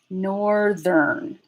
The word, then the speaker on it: northern: So it's going to sound like this now, northern. So instead of the voiceless TH being the end of the first syllable, it's actually going to be the beginning of the next syllable.